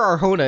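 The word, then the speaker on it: Arjona: I'm pretty sure Arhona is correct.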